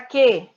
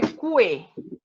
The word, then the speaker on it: que: Que, não é cue. Que. Consequência. Que. É como se ele fosse só isso aqui, ó. Só a letra Q. Certo? Por ela tem o som de ela não pronuncia a letra U.